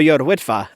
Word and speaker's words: Yr Wyddfa: Mount Snowden or Y wifa as it's known today without offending too many Welsh people with the pronunciation I'll stick to the English version of